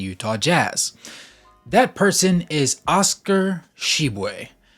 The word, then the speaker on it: Tshiebwe: And that is how his last name is pronounced in Jamaican, though it has a different pronunciation in French. However, he finds it to be the easiest to be pronounced that way because in America, it's just easier to say it that way.